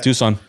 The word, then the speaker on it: Tucson: Tucson.